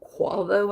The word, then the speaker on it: Quavo: one is rick ross and there's one named quavo i guess that's how you pronounce it q-u-a-v-o i had not heard of